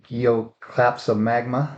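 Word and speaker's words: Gloeocapsa magma: on a roof too think if I can pronounce it right it's gooc claps of magma that's right you got it right Robbie that's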